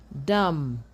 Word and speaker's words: dumb: If a root word has MB as the last letters, as the final letters, the B is silent. For example, we have climb, bomb, thumb, dumb, comb, lamb, nam, crumb.